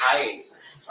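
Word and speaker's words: IACIS: call it Isis yes how do you say iasis iasis all right I just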